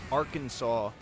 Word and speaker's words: Arkansas: Ar Kansas. Ar Kansas. Why not just regular Kansas? And somehow that word is pronounced Arkansas.